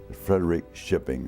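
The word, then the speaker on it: Frederikskoping: was from Frederick shipping f-r-e-d-e-r-i-k-s-k-o-p-i-n-g Frederick shipping is the way they pronounced it my mother was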